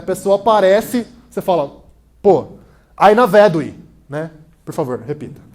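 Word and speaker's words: Ai na vedui: enrolando, e a pessoa aparece, você fala, pô, Aina Vedui, né? Por favor, repita. Aina Vedui. Aina Vedui. Isso, muito bem, a pronúncia está boa do élfico, que é finalmente, né?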